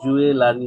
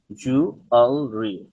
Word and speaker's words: jewelry: এই শব্দটার মানে হচ্ছে অলংকার, এটার উচ্চারণ হচ্ছে জুয়েলারি, জুয়েলারি, জুয়েলারি, জুয়েলারি না, এটা জুয়েলারি, জুয়েলারি, জুয়েলারি, জুয়েলারি।